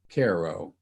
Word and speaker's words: Cairo: first snow, and about an American city spelled the same as Cairo, only pronounced Cairo.